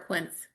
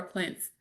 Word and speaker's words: Quince: And then another clothing company called Quincy or Quince or Quince, and the E is silent. I don't know, but Quince, Quince, Quince, is the number one spender.